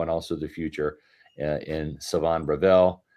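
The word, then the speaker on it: Shavon: We have a cornerback for now and also the future in Savon Ravel. Yes, the H is silent. It is Savon, folks. It's not Chavon.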